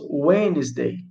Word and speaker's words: Wednesday: Ó, aqui, ó, ele se escreve Wednesdays, mas nós falamos Wednesday, Wednesday. Né? É bem diferente, né? Não pronuncia todas as letras.